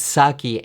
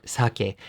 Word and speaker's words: sake: word is saki not sake the word has become an English word and so it needs to follow the English rules for pronunciation so it's not sake